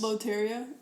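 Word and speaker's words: Lotería: Loteria?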